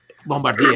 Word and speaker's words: Bombardier: Bombardier. Yeah, Exactly. that's the French pronunciation.